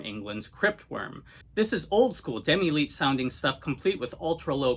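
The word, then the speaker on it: Demilich: So let's kick this off with a couple of Demi-Leech, or I think Demi-Lick is actually the correct pronunciation, but I'll use both.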